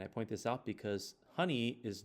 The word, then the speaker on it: HNI: heritable non gentic information is abbreviated hni and is pronounced honey because I think it